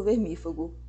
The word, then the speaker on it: vermífugo: de estereotipo prototipo E na verdade a pronúncia correta é com acentuação na anti penúltima sílaba estereótipo protótipo vermífugo fique sabendo que algumas